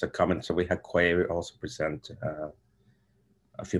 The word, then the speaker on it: Quay: source version of um i struggled to say quay but i guess that's the official pronunciation because i should probably wear in in the uk and europe it's normally for nice key and that one's written